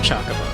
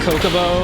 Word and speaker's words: Chocobo: Trying to force myself to pronounce it Chocobo. Every ounce of my being says that that is pronounced Coco, but I know I know it's cho chocobo.